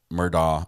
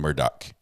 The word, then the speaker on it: Murdaugh: which is funny because the judge can't figure out how to say the last name for for a family that's so famous and and well known in the legal field in the area he called him Murdo murder and Murdoch I think